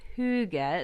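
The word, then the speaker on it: hygge: the little book of of Huga is how you pronounce it it's a Danish term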